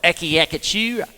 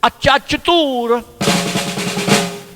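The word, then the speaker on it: acciaccatura: I used to call it when you try and pronounce it, it's like aki akatura, aki like that, but it's acciatura, and that's close, like that.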